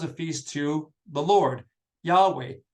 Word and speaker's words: Yahweh: I'm going to pronounce it Yahweh. It may not have been pronounced Yahweh.